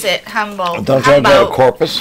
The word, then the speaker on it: Humboldt: It's Humboldt. Trailer hitches there. I was fixing it because it's pronounced differently than humble, but they build them.